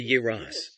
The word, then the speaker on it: Yoros: In Turkish, it is pronounced Yoros. In Russian, of course, we can't say it like that because we always stress the letter yo, while in their language, it is unstressed. That's why I say Yoros.